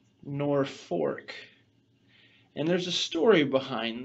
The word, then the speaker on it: Norfolk: story you know that the name of this town is not pronounced nor Folk it's pronounced nor fork and there's a story